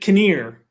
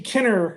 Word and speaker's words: Kinnear: So my last name is Kinnear, like dinner with a K. You pronounced it Kinnear. Kinnear, yeah. It's actually Kinner, like dinner with a K.